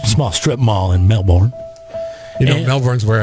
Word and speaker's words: Melbourne: said no but uh in florida it's melbourne yeah melbourne like it's spelt uh barbershop owner shot